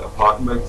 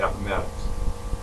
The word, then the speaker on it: Appomattox: Some people said Appomattox, some other people pronounce it Appomattox.